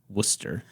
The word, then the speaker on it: Worcester: spelled w r c s t r but pronounced Worcester I didn't think you were going to spell